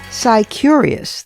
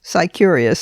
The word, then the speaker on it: Scicurious: Sicurious. That's spelled S CI and then curious. Sicurious.